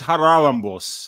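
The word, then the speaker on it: Charalampos: is that correct yeah it's it's haralambos that's that's the Greek name is Harry it's just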